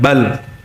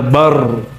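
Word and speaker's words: بل: Ini lam dan ro cara keluarnya makhrajnya sama maka kita berhentikan bal ya. Enggak, enggak boleh baca bar, enggak boleh ya.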